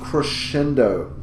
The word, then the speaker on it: crescendo: he uses the word crescendo in that song it is pronounced crescendo it gets the kind of that SH sound in there so make sure you're